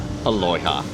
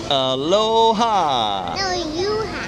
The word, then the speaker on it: aloha: And of course, it's served with the aloya. Alo aloyha. What's aloa? You know how to say how do you say how do you how do you say this? Aloha.